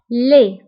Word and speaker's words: laid: فبالنسبة لدي ما كنتبقاش في آخر الكلمة كنقولو laid.